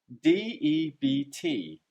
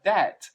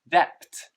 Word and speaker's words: debt: is the word debt d-e-b-t debt now note here that the word debt has a silent letter and the silent letter is the b so sometimes english learners